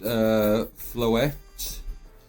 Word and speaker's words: Floette: It's pronounced Floette.